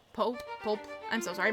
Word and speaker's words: Pope: Pope Pope. I'm so sorry I mispronounced your name.